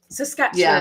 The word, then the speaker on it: Saskatchewan: Saskatchewan. I've always wondered if how to pronounce that properly. Sasquatch. Sort of like Sasquatch.